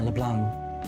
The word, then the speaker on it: LeBlanc: a magazine before yeah LeBlanc you wouldn't pronounce the C right that was a